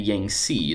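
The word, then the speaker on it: Yangtze: nile river valley and china the yang sea that's how you pronounce that uh river valley notice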